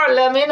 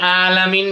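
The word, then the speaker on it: العالمين: জি জি, আলহামদুলিল্লাহি রাব্বিল আলামিন, আলামিন হলো আইনের উচ্চারণ, আর আলামিন বললে হামজার উচ্চারণ হয়ে যাবে, তাহলে অক্ষরের জায়গায় অক্ষর চেঞ্জ হয়ে গেলে মিনিং চেঞ্জ হয়ে যাবে, কুফরি কালাম অর্থ হয়ে যাবে।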